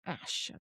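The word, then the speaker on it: Asch: social psychologist called Solomon Ash. And I don't know if it's pronounced ash, like wood ash. Um, but uh it's spelled a s c h.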